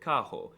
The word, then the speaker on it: carro: The R is very often pronounced as an H, like in the word carro.